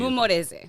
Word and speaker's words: Mumporeze: do Mumporeze. I didn't see it. There we go. P is silent.